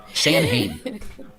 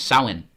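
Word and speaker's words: Samhain: S A M H A I N San Hane. But the way you pronounce it is sin.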